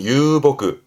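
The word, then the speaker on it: 遊牧: 발음은 유보그. 유보그.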